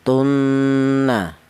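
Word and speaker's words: تَمُوتُنَّ: Artinya ghunah itu ada suara berdengung. Panjangnya dengung yaitu dua harakat atau dua ketukan. Contoh ini ya. Fala tamutun tun seperti itu. Jangan kecepatan ya. Jangan tunna. Jangan tapi tunna ya.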